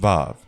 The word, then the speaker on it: Vav: Each Y is pronounced Yud, each H is pronounced He, each V is pronounced Vav.